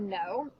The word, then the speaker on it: know: interesting about the word no is there's this K and N at the beginning it's not the word Cano this K is silent and we just make the n Sound okay so that's the